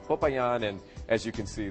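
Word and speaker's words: Popayán: couple of storms papayan that is the correct way to say it because I've gotten emails all this week Brian you're saying papayan the wrong way okay it's papayan and as you can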